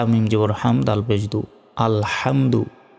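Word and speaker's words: ٱلْحَمْدُ: হামদ আল পেশ আলহামদু আমরা অনেকেই প্রথম শব্দে ভুল করি বলি যে আলহামদু আলহামদু শব্দের অর্থ হচ্ছে ধ্বংস হওয়া আর এইখানে আছে আল হামদু বড় হা রয়েছে যার অর্থ প্রশংসা করা তো আমরা যদি হামদু বলি তাহলে কিন্তু গুনাহ হবে তাই বলতে হবে আল হামদু লাম লাম জের লিল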